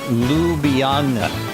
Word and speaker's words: Ljubljana: It's pronounced Ljubljana.